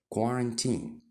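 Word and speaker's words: quarantine: اللي هو في المستشفيات يبقى عرفنا الكلمه دي نطقها الصحيح كوارنتين كمان كلمه جميله اسمها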